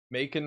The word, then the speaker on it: Macon: Macon rhymes with bacon.